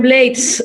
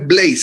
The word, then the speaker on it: Blades: Maestro Rubén Blades, su banda o mi banda sonora está acompañada por usted.